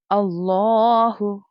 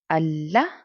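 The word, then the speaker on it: الله: कहीं आपको दिखेगा तो उसको हमें फुल माउथ के साथ पढ़ना होता है. मोटी टोन में पढ़ना होता है, थिकर टोन में प्रोनाउंस करना होता है.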